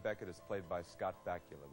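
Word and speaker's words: Bakula: is played by Scott bacula which rhymes with Dracula a St Louis native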